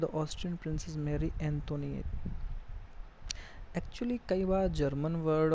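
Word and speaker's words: Antoinette: Mary एंटोनिएट पढ़ते हैं इसको, एंटोनिएट, टी साइलेंट हो जाता है।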